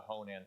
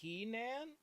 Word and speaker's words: Henan: Like Liu Kang was from the Honan province. That is a real world. Nowadays, it's more commonly pronounced Henan province, but that is a real alternate like